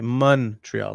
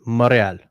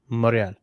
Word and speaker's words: Montréal: say Montreal and man the locals you may as well just leave the n off it's moral that's it moral Montreal moral that's fascinating